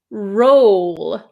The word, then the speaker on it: roll: The second word is roll. I make an O shape with my mouth.